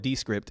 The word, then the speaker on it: Descript: Okay, one killer tool is Descript, they call it Descript, it's spelled Descript, Descript.